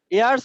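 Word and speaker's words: heirs: ইয়ার্স মানে হচ্ছে উত্তরাধিকার, HEIR এস। এই উত্তরাধিকার। এটাকে হেয়ার বলা যাবে না, এটাকে আমরা কি বলবো? ইয়ার্স। ইয়ার্স, উচ্চারণ করতে হবে, কারণ হলো এইচটা সাইলেন্ট থাকবে এখানে।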